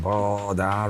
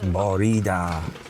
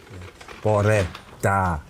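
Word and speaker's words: Bore da: Despite my best efforts, I'm actually pronouncing Boda wrong. It's Borida. Quite a simple phrase, isn't it, really? Borida. Boreda. Boreda. So it's like red without the D.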